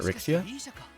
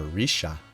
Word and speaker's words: Rixia: Wait, is that Rixia? Or Risha, is how they pronounce it.